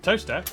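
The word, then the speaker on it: Towcester: to the club North up to Tau sister toaster then a quick jaunt to Gotham Gotham followed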